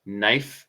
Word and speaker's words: knife: same with like knife. It's KNIF. Yeah, yeah, yeah. KN. No K.